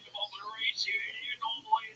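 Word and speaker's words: Rhys: Yeah, Reese, right? Yeah. Reese? R-E-E. Spell it R-E-E-C-E-Y-S. Yeah. Well, why do you spell it R-H-Y-S? I don't know if you know how your names get fucking made, Tony, but my mom gave it to me. Yeah, but you get mad every time somebody doesn't call that Reese, even though it literally isn't spelled like the name Reese at all. Yeah, it's Welsh.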